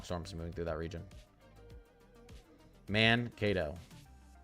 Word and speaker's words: Mankato: Mankato. Mankato. Okay, I was right the first time.